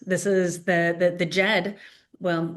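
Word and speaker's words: Djed: This is the the the Jed well, it's spelled with a d j e d i, the Jed of Egypt is where uh they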